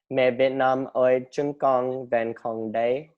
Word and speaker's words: Mẹ Việt Nam ơi, chúng con vẫn còn đây: And what's the Vietnamese name, or how do you say Mẹ Việt Nam ơi, chúng con vẫn còn đây.